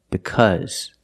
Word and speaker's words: because: heavy New York accent, you might hear Americans say because. But that's only in New York. The rest of America says because. This is the normal pronunciation of the word. Because. Make the relaxed close sound.